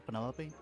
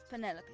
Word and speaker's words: Penelope: am any pointer pleasure is that short for Penelope officially yes but I never can be bothered with all four syllables of it Penelope sounds a little ostentatious coming out of the mouth don't you think uh